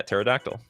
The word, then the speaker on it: pterodactyl: Dinosaur is technically pterodactyl but is pronounced without the P. Uh yeah, pterodactyl.